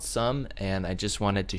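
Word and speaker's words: Xumm: It is spelled X-U-M-M. I always called it Zoom, but it is called Sum, and I just wanted to show there is a massive undertaking of people testing this out.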